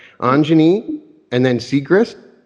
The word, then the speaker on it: Siegrist: Well, I'm pronouncing Anjani. Anjani, okay, please forgive me, I'm sorry, all right. Anjani, and then Siegrist? Siegrist, All right, and she's been practicing the healing arts for over 17 years.